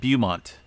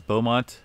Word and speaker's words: Beaumont: I said Beaumont, not for sure why, but I guess it's Beaumont region.